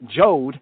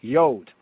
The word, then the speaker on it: Yod: So instead of Jod, it would be Yod.